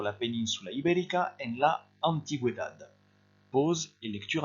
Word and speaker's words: antigüedad: Vous faites attention ici, il y a un U qui se prononce également, vous avez un tréma, c'est très rare en espagnol.